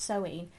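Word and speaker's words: Samhain: SE that's it's spelled Sam ha but it's pronounced soen looking at you deliberately Supernatural got that one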